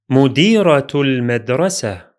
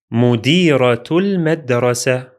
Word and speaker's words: مديرة المدرسة: In this case, the ta is pronounced as T sound in connection, as in this phrase, which will be مديرة المدرسة. مديرة المدرسة.